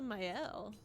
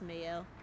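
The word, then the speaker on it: Maelle: So, let's give that to Myel. Mayel. I think I'm saying myel and it's mel. I'm pretty sure I've been saying your name wrong.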